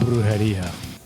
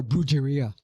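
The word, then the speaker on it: Brujeria: love that band name when Jerry had once told me about bruha how long at least you can say it right most people are brera oh well my wife's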